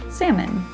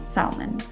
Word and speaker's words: salmon: and should and also our first example salmon is correct not salmon moving on to the